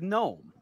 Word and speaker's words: gnome: different like uh uh like gnome you know how gnome is spelled um she takes the the quill from you and she writes n-o-m-e and the panic uh takes the quill from her and then writes a g in front of it what unknown yeah it's crazy isn't it there are words that are silent yes those are called silent letters oh gunter guide me